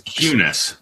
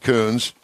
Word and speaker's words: Kunis: You can Yeah, pronounce- it's Cunis, but that's all right. Cunis. I've heard There you it. go. Yeah, I'm I've sure heard it I'm a not the million first one to Cunis. pronounce it Coons.